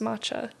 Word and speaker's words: matcha: when you said because it looks like MAA it's still pronounced matcha no I I get